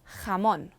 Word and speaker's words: jamón: J is strong like an English H. Jamón, jamón.